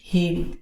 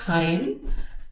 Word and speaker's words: hymn: So how you pronounce it is hymn. It's not hymn, which most of the people pronounce.